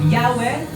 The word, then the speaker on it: Yahweh: But later on, yung closest pronunciation dito is Yahweh.